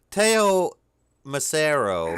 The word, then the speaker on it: Teo Macero: loops and stuff it's pretty it's pretty seamless teo macero did i pronounce that right yep was the producer behind